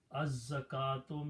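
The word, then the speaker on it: الزكوة: You write down lam and za together, but lam is not being pronounced, za is twice, so you put a shadda. It becomes az zaka. Az zaka. Azza actually up to this point. Then you put kaf with the alif, with the fatah. Now it becomes az-zaka. Az-zaka, and this waw is not pronounced, and tu is there.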